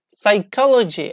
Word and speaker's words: psychology: so like pneumonia pneumonia psychology as you see I don't pronounce P here psychology psychology yes or domain domain like not if you say no mania it is wrong pneumonia pneumonia psychology psychology